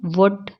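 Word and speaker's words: would: लिखा हुआ तो हम इसको कैसे पढ़ेंगे वुड कुड शुड यह अक्सर मेरी बच्ची भी गलती करती है कि वो वल्ड पढ़ती है तो मैं उसको यही बताती हूं वुड बढो अब एन कब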